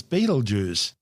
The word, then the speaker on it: Betelgeuse: Although we're calling it Betelgeuse, it's also commonly known as Beetlejuice. Both are mispronunciations of the original Arabic name Betelgeuse, meaning the hand of the big man being Orion the Hunter.